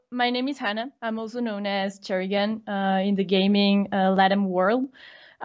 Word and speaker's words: Cherrigan: That's Cherrigan, whose name I cannot pronounce because I cannot roll my R's. Maybe you can pronounce it for the audience? Cherrigan is fine, but maybe you should try Cherrigan. Cherrigan.